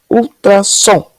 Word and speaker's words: ultrassom: é uma vamos lá ultrassom ultrassom qual que ficou mais forte a última né som Então já tiramos pro